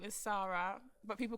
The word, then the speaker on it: Sara: So, why are you Sara, but I call you Sarah?